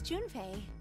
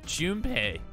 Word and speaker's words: Junpei: His name is Junpei. Oh, I was saying his name wrong. Junpei.